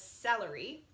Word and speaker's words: celery: starts with a c it's a little tricky because you'd think it would say calorie but it says celery cereal centipede center circus